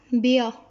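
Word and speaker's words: Bär: इसी तरह बेया, जैसे इंग्लिश में भी पढ़ते हुए बियर को पूरा जो है वो प्रोनाउंस नहीं किया जाता, आर को साइलेंट रखा जाएगा, तो बेया, बेया।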